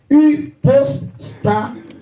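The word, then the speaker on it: ὑπόστασις: C'est un mot grec qui se prononce hypostasis.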